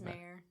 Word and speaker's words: Meyer: I believe it's pronounced Meyer. It might I I've heard it both ways. I was really just trying to make a joke. It is mayor.